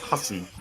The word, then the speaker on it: Hassan: Hassan. That's how they say it. Like when you hear like a fellow Arab say his name, it's like Hassan. It's Hassan.